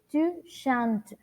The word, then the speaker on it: chantes: Debemos tener en cuenta que al momento de pronunciar estos verbos, no pronunciamos las terminaciones de ellos. Es decir, si yo pronuncio el verbo chanter avec le pronom tu, on ne dit pas, no decimos tu chantes, no. On dit tu chantes.